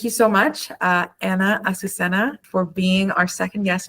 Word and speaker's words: Azucena: Asusenna. Asusenna. Ausena. Okay. So, thank you so much, uh, Anna Asusenna for being our second guest on the Energy Podcast.